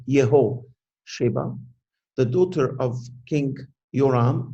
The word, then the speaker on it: Jehosheba: But Jehosheba, in our language, the J is not, I think it's in Hebrew, it would be the same. It's not Jeho, it's not pronounced the J, Yehosheba, the daughter of King